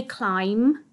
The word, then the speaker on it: climb: is climb fantastic now climb is tricky it's also got that i sound just like we noticed in wild but it's got a silent b on the end okay we can't hear this b we don't say climb but we do have it written on the end okay so we say climb and it's got that